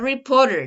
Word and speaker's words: reporter: wants to be a reporter that's correct how do you pronounce let's going to listen reporter reporter remember that uh it doesn't sound like a t reporter it sounds like uh uh our reporter right reporter she